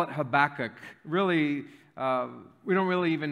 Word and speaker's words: Habakkuk: ball, she says the name of this book, Habakkuk. Some people call it Habakkuk. Some people call it Habakkuk. Some people call it Habakkuk. Some people call it Habakkuk. I call it Habakkuk.